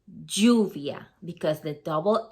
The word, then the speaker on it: lluvia: You don't say lluvia, like rain, you say lluvia, because the double L is always gonna sound like a Y in that sense.